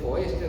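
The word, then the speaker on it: Foerster: Tengo esto, si es conocido para ustedes, le llamamos anillo, pero su nombre es Foester o Fester, se pronuncia.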